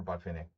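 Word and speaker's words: Botvinnik: I was just doing a Buffnik game in analyzing one of Buffnik's games and the cool thing about Bvenic or Bahinick to pronounce it correctly is that he was so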